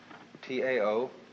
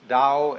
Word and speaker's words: Tao: So their principle of nature is called a Tao, T-A-O, pronounced Dao in the Mandarin dialect, Tao in the Shanghai dialect, To in the Cantonese dialect. Take your choice.